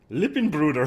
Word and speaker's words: Lippenbrüder: How do you say brothers? German. Lippenbruder. Holy shit, I got it right.